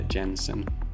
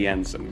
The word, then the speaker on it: Jensen: special guest today I'm happy to introduce Amanda Jensen to the podcast I'm glad I I pronounced that correctly I was about to say Jansen but Jens how are you today I'm great